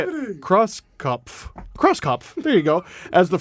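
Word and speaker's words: Krauskopf: The Indiana Pacers are hiring longtime WNBA executive Kelly Croxpuff. Did you just read Kelly. this? Did you just read this? No. I just still don't know how to say it. Crosskopf.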